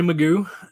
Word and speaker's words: Magu: my name is magu and it is pronounced magoo like the cartoon and i am the